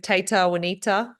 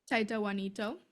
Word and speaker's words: Taita Juanito: And Mariah, you've trained with Tata Wanita. Is that how I pronounce his name? Taita Juanito. Yep, with Winito.